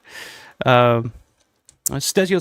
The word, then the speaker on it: Stesio: Stesio says, nope, he mispronounced my name. It's like stereo, but with a C.